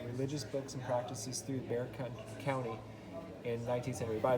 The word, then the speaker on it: Bexar: books and practices through bear county in 19th century by the way that's b x a r pronounced bear um so it says